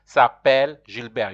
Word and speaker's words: Gilbert: notice the pronunciation of Gilbert in French is you'll pronounce it in French you hardly pronounce the last consonant unless there's an e after the last consonant so here the consonant